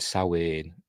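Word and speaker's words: Samhain: think it's from you know sa the word sa spelled s m h a i n is it but it's pronounced sa which is that Celtic the Celtic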